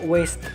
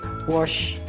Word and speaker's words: waste: Seharusnya diucapkan dengan cara waste, bukan wash.